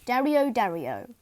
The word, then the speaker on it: Dario dario: daniel zurich dario dario pronunciation dario dario size is 2.5 centimeters